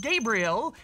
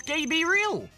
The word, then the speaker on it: Gabriel: one of the questions of an episode It's pronounced Gabriel he said it's gab real well tan firstly for those who might not